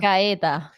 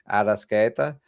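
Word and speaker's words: Arrascaeta: Arascaeta. Arasqueta.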